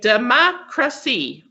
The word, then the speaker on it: democracy: then it look at the word democracy okay democracy four syllables so see craw mo is emphasized democracy